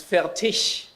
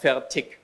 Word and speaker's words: Fertig: Because it's Fertig and not Fertig. It's a hard G at the end.